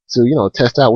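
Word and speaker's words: を: Things that are spelled out. Like if you would say Benkyo o shimasu, you would spell that out. Ben kyo. Then wo, which is pronounced o, and then shimasu, etc.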